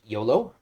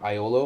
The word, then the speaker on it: Iolo: Canonically, his name is pronounced Yolo, not Iolo or Yolo.